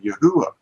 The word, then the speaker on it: יהוה: And this transliteration actually is the same thing as our pronunciation today of Yahuwah, because this is not a V to them. It's a V to us, but it isn't a V to the people of the 1500s.